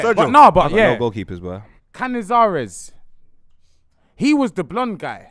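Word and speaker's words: Cañizares: Name is Cazares, and I love him. You said it wrong, but you said Canizares. It wrong. Canizares.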